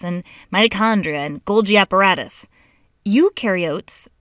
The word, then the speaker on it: eukaryote: mitochondria and Golgi apparatus eukaryotes the U rhymes with do they do have membrane-bound